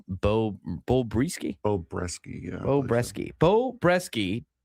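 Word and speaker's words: Brieske: Bo Bresky, yeah.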